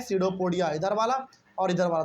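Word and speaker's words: pseudopodia: बहुत लोग इसको पीसडोपोडिया पढ़ते हैं। नहीं इसमें पी साइलेंट होता है। केवल इसको क्या पढ़ेंगे? सडोपोडिया पढ़ेंगे।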